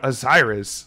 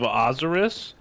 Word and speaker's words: Osiris: in the country where that religion was followed pronounces it azaris not osiris like a bunch of dumb british do you call it born of azaris yes i do you got me some new